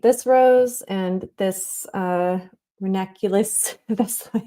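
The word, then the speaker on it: ranunculus: So, I think my plan of action is I'm going to paint this rose and this uh renaculous, that's the way it's pronounced.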